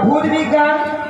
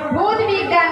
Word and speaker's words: ভৌত বিজ্ঞান: আচ্ছা মাসি কোন কোন বিষয়ে স্টার চাইছো দাও ভূত বিজ্ঞান ভূত বিজ্ঞান নয় বলো ভৌত বিজ্ঞান হ্যাঁ ভৌত বিজ্ঞান ভৌত বিজ্ঞান হ্যাঁ ভৌত বিজ্ঞান ভৌত নদীর বিজ্ঞান